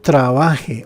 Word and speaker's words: trabaje: Una aclaración, aquí yo trabaje, ojo, es modo subjuntivo, porque cuando dice yo trabajé, si le colocamos el acento en español a la última, es modo indicativo pero en pasado.